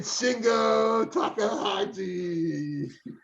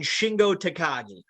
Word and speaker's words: Shingo Takagi: like that, Takahashi, and Shingo Takahashi. If Tom wasn't feeling bad enough right now, you just butchered one of his favorite wrestlers in the world. It's Hiromu Takahashi and Shingo Takagi.